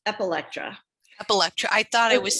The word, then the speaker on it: Epilectra: It's Epilectra.